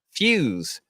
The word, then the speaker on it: Fuse: Fuse. It's pronounced like fuse, but I enjoyed watching the struggle.